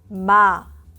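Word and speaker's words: 마: listen to the pronunciation Ma to pronounce close your lips and make a nasal Sound by letting the air flow through your nose Ma Lia let's look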